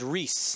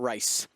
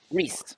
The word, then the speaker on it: Rhys: It is Rhys, not Rice. Rhys.